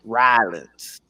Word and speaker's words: Rollins: Seth Rollins. Seth. SEFF. Rollins. RAWLINS.